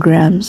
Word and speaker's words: Grahams: Alam niyo yung grams grams yung pronunciation pal grahams grams ng grahams ang pronounciation is gr kahit British British English or American english Gan talaga napanood ko sa ano sa video na may isang video akong Napanood na pronation grams gr GR silent it siya may paano